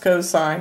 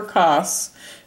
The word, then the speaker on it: cosine: abbreviation is cos and it's pronounced cosine not never cos but cosine and it's adjacent side